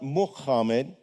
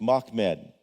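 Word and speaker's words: Μάμεδ: It's not Muhammad. It's only two syllables, Mock Med.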